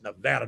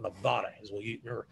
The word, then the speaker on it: Nevada: the nevada gotta remember how to pronounce that's nevada not nevada but all these battleships were